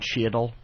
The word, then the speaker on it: Cheadle: Did I tell you that Voss one time said one of his favorite actors was Don Cheadle? He pronounced the A in Cheadle's name.